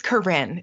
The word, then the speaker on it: Corinne: Is it Corinne or Corinne? It is Corinne.